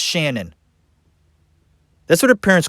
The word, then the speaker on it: Shanann: do you think that well tell you why shenan that's not her real name folks her name's